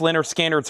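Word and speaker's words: Lynyrd Skynyrd: And uh pronounced Leonard Skannards right here.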